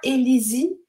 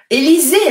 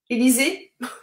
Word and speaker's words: Élisée: Alors, tu m'as écrit, ce n'est pas Élisie, c'est Élisée, alors. Élisée.